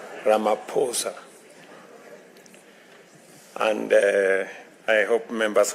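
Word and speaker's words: Ramaphosa: He just explained to me that uh the correct pronunciation is not what everybody else has been saying. It is Ramaposa.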